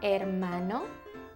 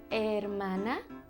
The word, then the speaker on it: hermano: Do you have a brother, un hermano, or a sister, una hermana? Brother and sister in Spanish is hermano y hermana. It starts with an H, but you don't really pronounce the H.